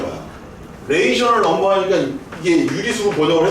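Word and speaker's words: ratio: 근데 실제 저 영어 이거 발음표 보니까 라티오라고 안 읽더라고. 레이셔라고 읽더라고. 영어 수업도 해줘야 되나? 잘 들으세요. R-A-T-I-O. 라티오 no. 레이셔. 따라해주세요. 레이셔. 레이셔.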